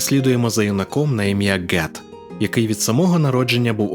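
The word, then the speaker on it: Ged: допоможе геду нарешті зцілитись І так я вимовляю його ім'я як Get а не гед як запропоновано в перекладі оскільки гед мало того що вимовляти не комфортно все ще й некоректна транслітерація якщо ми йдемо шляхом гемінгвея і гоґвортсу то це слово теж безумовно має звучати як Get На цьому я припиняю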